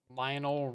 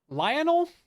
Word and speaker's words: Lionel: Yeah, I grabbed a Lionol Richie. Is that how you say it? Lionol. Lionel. Kind of name is Lionel.